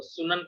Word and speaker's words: सुन्नत: सामूहिक रूप से वो सुनन कहे जाते हैं, सुनन बहुवचन है सुन्नत का। सुन्ना वो सुन्नत ते साइलेंट हो जाता है, सुन्ना या सुनन उसका बहुवचन है, तो उस पे बेस्ड माना जाता है।